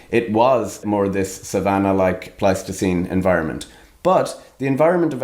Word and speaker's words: Pleistocene: The Plasticine. ...evolved primarily... Pronounce it correctly. ...in this savanna Pleistocene environment.